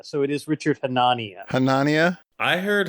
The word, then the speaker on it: Hanania: Someone said it's like Melania, so it is Richard Hanania. Hanania? I heard Hanania.